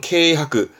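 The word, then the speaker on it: 軽薄: 발음은 케이하크.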